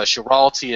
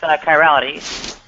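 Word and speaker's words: chirality: academic uh I guess I believe it's pronounced Kirality kirality.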